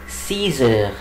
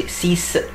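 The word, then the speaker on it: six: الساعه 6، يبقى الي سيزر، الي سيزر. وخلي بالكم هنا ما اقولش سيس، لا بقول سيز، الاكس بنطقها زد عشان بعدها ان ايه؟ ان فويل، بعدها فاولز، يبقى الي سيزر.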